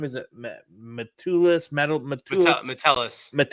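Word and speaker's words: Metellus: They got Josh Josh, what is how do you pronounce his last name? Is it Matulis? Metal Matis Matelis. Matelis.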